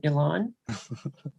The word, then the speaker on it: Ilan: And finally, our third panelist is, and correct me if I'm saying your name wrong, Ilan. Yes, it's you say it right. Yes, oh, good. It's Ilan.